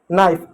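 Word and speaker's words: knife: जैसे एग्जांपल तौर पे देखिए नो नी नाइफ जब कभी भी शब्द के शुरुआत में के एन साथ में आए तो वहां पर हमेशा के साइलेंट होगा।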